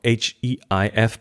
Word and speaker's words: HEIF: Now let's look at HEIF, or H-E-I-F, but I think the official pronunciation now is HEIF, which is not invented by Apple.